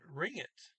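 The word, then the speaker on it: ringte: i conjugated that auringa notice i said ring it because the past tense well as of the t and you might wonder well wait a second t's don't get pronounced at the end of words well there are exceptions one exception being if it's a verb form okay you do pronounce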